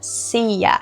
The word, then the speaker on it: sea: Outra questão importante aqui é a pronúncia de sea. So, I throw myself into the sea. Ok? A gente não fala sea. Sim, a palavra pode terminar com a letra A, mas esse A não vai ser pronunciado.